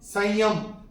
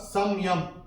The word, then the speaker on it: संयम: और अगर हम रूल के हिसाब से जाएंगे तो अनुस्वार के बाद जब य आएगा तो अनुस्वार का उच्चारण होगा म। लेकिन जब हम चैंट करते हैं, और जब मैंने चैंट किया था, मैंने कैसे किया था? यमः संयमतामहं, यमः संयमतामहं, संयम और संयम दोनों ही ठीक है।